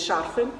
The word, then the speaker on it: шарфы: Я за время ведения канала научилась говорить шарфы. Совершенно точно правильно ставлю так ударение.